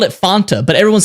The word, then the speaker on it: Fanta: we don't do that you pronounce it the way that the people say it and they're saying Fanta so it's Fanta not Fanta because if you're going